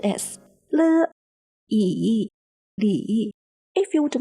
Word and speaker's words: Li: The letter L here is pronounced as Le, and the letter I here is pronounced as Yi.